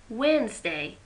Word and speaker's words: Wednesday: Wednesday, D is silent.